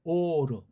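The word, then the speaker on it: אור: 요거 오는 발음상 이걸 모음으로 오자를 발음을 쳐놨는데 엉터리예요. 엉터리. 알레프, 바브, 레이슈 다 뜻과 소리가 다 담겨 있고 어우러진 거란 말이에요. 근본을 유추해 볼 때. 근데 이거 바브자를 자음이 아니고 모음을 해버린 건 잘못된 거예요.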